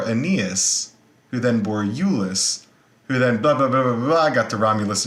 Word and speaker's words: Iulus: Now, the reason this is so important is that the Julii, the place that this name comes from is from Iulus, I-U-L-U-S. that's how you pronounce it.